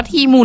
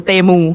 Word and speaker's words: Temu: เดี๋ยว ก่อน พี่ แซน มัน อ่าน ว่า ทีมู หรือ เตมู ทีมู ทีมู อ๋อ โอเค ไป ศึกษา มา